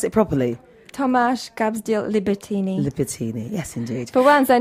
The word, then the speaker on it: Libertíny: Did I pronounce it properly? Tomáš Gabsdiel Libertíny. Libertíny, yes, indeed.